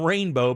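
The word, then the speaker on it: Reign Beau: And his daughter's name is Rainbow, but it's spelled R-E-I-G-N, middle name B-E-A-U.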